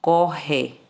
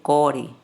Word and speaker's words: corre: Quando tiver dois R's no meio das vogais, aí ele vai ter som forte. Por exemplo, corre, tá vendo? Corre, corre. Se você colocar um R só, você vai ler core, core, tá vendo?